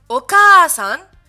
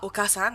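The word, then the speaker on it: お母さん: Oka-san, et non pas Oka-san, hein. Oka-san, Oka-san, et Oba-san, et non Oba-san. Oba-san.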